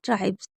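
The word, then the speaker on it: tribes: जैसे ट्राइब्स यानी कि जनजाति। तो यहां पर आप अच्छे से समझ लीजिए कि एस को ज क्यों पढ़ते हैं? जब एस से पहले वी ई आएगा तो एस को ज पढ़ेंगे।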